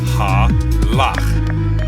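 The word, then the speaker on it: הלך: An example of this is this Hebrew word, which is pronounced halach, meaning walk.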